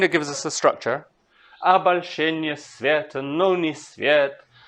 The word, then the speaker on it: обольщение: Okay, kind of not right here because обольщение, not обольщение. But okay, kind of gives us a structure. Обольщение света, но не свет, в котором я минутами лишил.